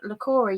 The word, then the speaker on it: Leah: a yoga teacher, and she's the founder of Leah Yoga. Now, am I pronouncing that correctly, Leah? Yep, that's right. Leah Yoga.